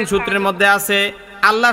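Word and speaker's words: الله: নং সূত্রের মধ্যে আছে আল্লাহ শব্দের ডাইনে জবর বা পেশ হলে আল্লাহ শব্দের লামকে মোটা করে পড়িতে হয় আল্লাহ শব্দের লামটাকে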